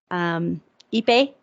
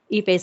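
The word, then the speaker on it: Ippei: Albert Pujols asked Shohei's interpreter, Ipe, is that how you pronounce his name, Ipe?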